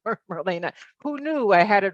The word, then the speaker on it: Marlene: And although it's, um, E ne, it is pronounced Marina.